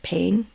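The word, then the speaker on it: Payne: PL pain is it pain pain I think it's how it's pronounced p a y NE E from One Direction um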